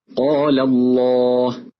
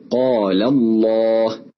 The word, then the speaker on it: الله: نلاحظ أن اللام في لفظ الجلالة جاءت مفخمة، ولكن استمع ولاحظ نطق اللام في الأمثلة الآتية: بالله، قل اللهم، في دين الله، وينجي الله. لعلك لاحظت أن لام لفظ الجلالة جاءت مرققة.